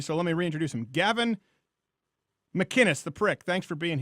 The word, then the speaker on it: Gavin McInnes: They call me Gabby Ines, Gavin, Mr. Gavin. One time this woman she couldn't do it. And I keep going, it's phonetic.